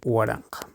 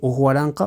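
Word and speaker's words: waranqa: Cómo se dice 1000 1000 se dice guaranja guaranja sé que algunos van a poner aquí eh es válido u Ju aranca para decir 1000 Eh bueno se puede decir de las dos maneras podemos decir u aranca o simplemente decir huaranca cualquiera de los dos Entonces cómo se dice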